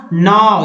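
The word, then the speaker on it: gnaw: या नाव, GNA नाव, नाव means होता है कुतरना, या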